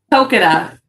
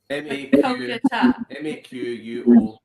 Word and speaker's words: Maquoketa: How do you pronounce it? Makokata. Makokata. Maquoketa.